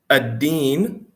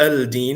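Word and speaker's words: الدين: Ad-deen, right? It's not al-deen, it's ad-deen because it's a harf shamsi, so the lam is not pronounced.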